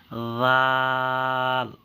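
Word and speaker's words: ذ: জালকে নরম করে, পাতলা করে পড়তে হবে এবং 4 সেকেন্ড টেনে পড়তে হবে। যেমন জাল জাল জাল। আসলে এর উচ্চারণ বাংলায় তেমনভাবে আসে না, তবুও বোঝার জন্য দিয়েছি।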